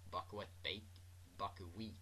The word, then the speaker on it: buckwheat: Buckwheat Bakery. That's how you say it, not wet.